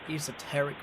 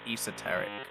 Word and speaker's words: esoteric: It feels like there's a subtext, some kind of more esoteric meaning behind your name choice. It is pronounced esoteric, not esoteric.